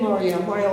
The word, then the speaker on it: Mario: We pat Mario, he told me his name was really pronounced Mario, after knowing him for 20 years, he finally told me I was pronouncing his name wrong.